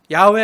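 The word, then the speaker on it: 야훼: 성경 학자들 특히 신학자들은 하나님의 이름은 여호와라고 불러선 안 되고 성경적으로 더 정확히는 야 야외 하나님으로 불러야 된다고 하는 학자들도 많이했어 야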